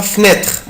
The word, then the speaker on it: fenêtre: une fenêtre une fenêtre كلمة يا حبايبي fenêtre شباك أقدر أنطقها fenêtre بصوا fenêtre fenêtre fenêtre أو fenêtre une fenêtre une fenêtre une fenêtre une fenêtre أو une fenêtre يعني شباك.